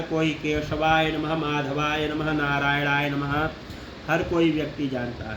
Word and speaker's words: नारायण: उसके बाद में ओम नारायणाय नमः, ओम नारायणाय नमः। रा नहीं है, रा, नारायणा, न के बगैर में, न के साथ, नाक के साथ में उच्चारण करना है।